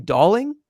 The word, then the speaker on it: Dowling: get Doling back um he does pronounce his name darling does has everyone gotten the news on this darling darling so like darling yeah like a doll yeah yeah yes darling